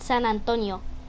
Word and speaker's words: San Antonio: But in Spanish, we pronounce it San Antonio.